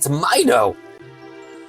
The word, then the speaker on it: Mido: Okay, Mido it is.